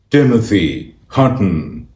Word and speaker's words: Timothy Hutton: It's pronounced Timothy Hutton.